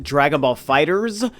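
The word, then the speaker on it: Dragon Ball FighterZ: video but I know the game is actually pronounced Dragon Ball fighters but I just like saying Dragon Ball fighters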